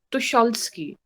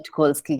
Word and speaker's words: Tucholsky: Also ist meine Aussprache korrekt? Tucholsky.